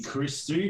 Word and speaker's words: Christou: a little thing going as to how you pronounce both things so yeah yeah so my name is christie comes from the greek so is